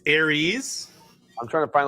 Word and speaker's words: Ares: bing bong all right here's how you pronounce it ready pronouncing it aries it's aries aries like the big aries not ours or or are all right aries big ares hey here we go berries big ares like big harry's you should have said